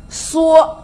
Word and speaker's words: 蓑: 象形字，因此呢念成什么呢？蓑，蓑衣，蓑，